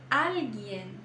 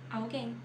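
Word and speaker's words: alguien: que erram muito tá então não é algu alg alg pronuncie todas as letras em espanhol sempre pronuncie todas as letras Alen Alen depois nós temos essa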